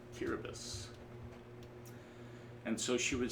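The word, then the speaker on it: Kiribati: It's uh spelled when you look at the spelling, you would pronounce it, we would pronounce it Kiraabati, but um it's actually pronounced Curabus.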